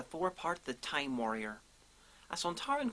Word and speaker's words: Sontaran: believe it or not, the only reason we pronounce the race Sontaran and not Sontaran is because Kevin Lindsay, who played Lynx, was an Australian and that's how he pronounced it.